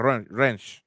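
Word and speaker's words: Rensch: It's like Wrench. R-E-N-S-C-H. SCH. It's pronounced like Wrench.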